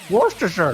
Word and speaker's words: Worcestershire: Worcestershire!